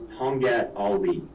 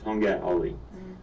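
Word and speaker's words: tongkat ali: of people could benefit from it and it's tongat ali okay and i'll spell it it's t-o-n-g k-a-t-a-l-i it's two words tonga ali now this herb um it's it's quoted in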